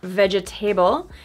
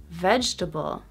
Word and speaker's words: vegetable: Not vegetable, but vegetable. Vegetable. So that first syllable is so strong, it makes the second syllable disappear.